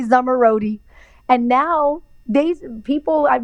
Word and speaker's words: Zomorodi: to say my name i'm going to teach you how to say summer roadie and now these people